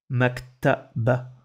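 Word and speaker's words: مكتبة: Et le dernier mot, on va écrire Maktaba. Maktaba. Maktaba. Il n'y a pas de prolongation. Maktaba. Maktaba. On entend le A à la fin.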